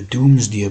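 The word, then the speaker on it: Domesday: Doomsday Book and yeah you you pronounce it the Doomsday Book right so it's Doom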